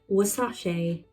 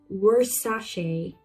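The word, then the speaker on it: Versace: Now this word have different pronunciation in different regions. You pronounce it in British English wasashe. But it can also pronounce like in American English was worashe. So it is wasashe or worashe. You can pronounce it in both ways. Both are correct.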